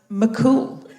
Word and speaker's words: Mac Cumhaill: The MH is like a W. In Irish, yeah.